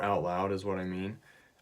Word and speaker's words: 你: 7 pretty simple and the way you pronounce this one is me and that means you